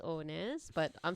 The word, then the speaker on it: nares: Some people might argue on the pronunciation of that, where it's nares or nares, but I'm saying nares.